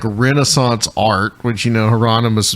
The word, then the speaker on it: Hieronymus: Which is all based on like Renaissance art, which Hieronymus Bosch, mispronounced by a lovely young lady on TikTok said Aeroonymus.